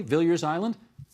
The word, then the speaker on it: Viliers Island: back in here and talk about something called Billiards Island have I pronounced that properly Billiards Island that's right okay I'm just going to uh